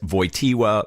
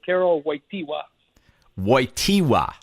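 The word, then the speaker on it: Karol Wojtyła: number of different ways vojta void Tila Y TIA how do you what is the proper pronunciation of st. John Paul the seconds given name sure well some of my polish colleagues may correct me here Carol white py whitey wah yeah whitey WA okay good enough I just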